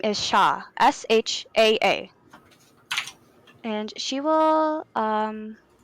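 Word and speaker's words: Shaa: will say her name her sister's name is shaw s-h-a-a and she will um ask you guys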